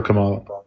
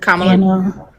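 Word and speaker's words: Kamala: So, I voted for Camala. Oh, wow. Welcome. It's pronounced Kamla.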